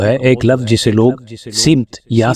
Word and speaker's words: سمت: سا تلفظ درست ہے۔ سین میم تے، اگر ہم سین پر زبر لگا کر پڑھیں گے تو یہ سمت پڑھا جائے گا، اور اگر سین پر زیر لگا کر پڑھیں گے تو یہ سمت پڑھا جائے گا۔ ہم